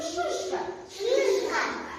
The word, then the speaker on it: шишка: И пишется и, но слышится и. Скажите шишка.